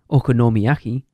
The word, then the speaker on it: okonomiyaki: That's not how you pronounced it last time. Okonomiyaki.